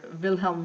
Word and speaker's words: Wilhelm: notes historical approaches um Wilhelm want or vilhelm V if you want to pronounce it the proper German Way created structuralism um within